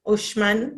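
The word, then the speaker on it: Uxmal: so this one was ushman they pronounced the ex shh because there is mayan language which is still spoken white i think mexico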